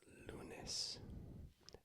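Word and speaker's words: lunes: indulging me to write that out Monday is lunis l u n s lunis Tuesday is mares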